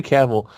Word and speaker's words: Cavill: last time you said Henry Cavill's name wrong, so that's okay. I got you. No, that's Henry Cavill.